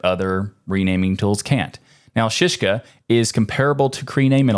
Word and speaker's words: Szyszka: this one which is apparently pronounced shishka I guess and while most file